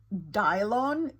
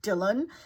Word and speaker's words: Dylan: for whatever reason he he pronounced the name as Dion instead of Dylan and when I heard